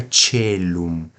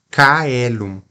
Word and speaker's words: caelum: tchau tch tch Tchau então fica telum telum na restituída ou restaurada fica caelum imagina por exemplo Regina chelli né rainha do céu re letra let aleluia na restaurada ficaria Regina cel tá então essa diferença